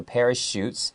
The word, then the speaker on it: parachute: even though there's a ch that ch is pronounced like an s okay so parachutes and he tested them how did he test